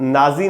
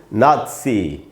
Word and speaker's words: Nazi: का साउंड बनता है, इसलिए इसको नाजी नहीं पढ़ना चाहिए, नाजी जर्मनी, नाजी हिटलर नहीं बोल के हमको बोलना चाहिए नात्सी, नात्सी, ये इसका शुद्ध उच्चारण है दोस्तों, नात्सी। तो ना में जो आ है उसी पर स्ट्रेस है, वहीं ज़्यादा रुकना है, इसको हम पढ़ेंगे नात्सी।